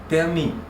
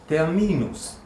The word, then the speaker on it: Termin: Термин. Ударение только не совпадает. Не термин, а термин.